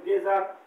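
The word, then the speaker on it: geyser: পানি গরম করার যন্ত্র এটার উচ্চারণ হবে গেজার অথচ আমাদের সূত্র অনুযায়ী জি ই মানে বর্গীয় জ হওয়ার কথা ছিল আমরা বলেছি এভরিথিং হ্যাজ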